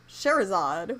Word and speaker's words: Scheherazade: First of all, I have not seen Scheherazade. It's spelled nuts, first of all. Yes, it is. I have heard Sherazade, which is a much shorter version of the same name for this character, but yeah, it's like,